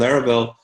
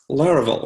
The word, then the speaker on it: Laravel: she just released so new um monologue and laravel on the clients last week I'm actually really